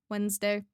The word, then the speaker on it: Wednesday: But do you pronounce the D? Do I? No. I I don't think I do. I don't think I pronounced the D. Wednesday.